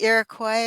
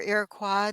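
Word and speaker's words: Iroquois: Tell me again where what what tribe practiced that, all of Western Europe and also the Irakquoy or Iraqua depending on how you pronounce it.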